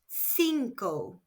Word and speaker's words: cinco: Five is sinkco. spelled c i n c o and pronounced sinko. Remember the C followed by E or I is pronounced S.